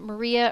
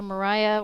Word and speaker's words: Maria: with Sir Andrew and Maria or Mariah, however you like to pronounce it. I've heard Mariah or Maria pronounced both ways in this particular play,